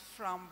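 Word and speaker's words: framboise: repeat that from baz yes it's a French word so it's pronounced from was FR was f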